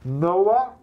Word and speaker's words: Noah: are you saying Milla Noah as in noah's ark Noah wait now say